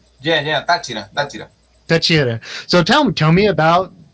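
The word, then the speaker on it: Táchira: So it's I already forgot the pronunciation. Tachira, right? Yeah, Tachira.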